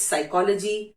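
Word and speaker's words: psychology: पी कैसे silent letter है? साइकोलॉजी, साइकोलॉजी मैंने नहीं बोला, सो इट्स साइकोलॉजी, साइकैट्री, physics, even PHYSICS is also doesn't pronounce P6, it's physics.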